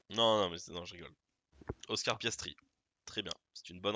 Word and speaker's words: Piastri: Pierre Gastry, Oui, c'est une bonne réponse, mais c'est mal prononcé. Oscar de son prénom. Piastri, quoi? Non, non, je rigole. Oscar Piastri, très bien, c'est une bonne réponse.